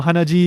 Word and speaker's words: hanaji: Hana means nose, and ji in phonetic modification of chi, which is blood.